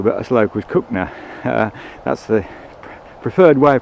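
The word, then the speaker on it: Cogenhoe: the river and we're approaching uh this is cook no lock you might pronounce it coggin hoe but as locals cookner that's the preferred way of pronouncing the village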